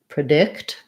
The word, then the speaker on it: predict: stress we have there so predict um your stress is on the dict syllable and so the pre sounds like pra predict for addict we have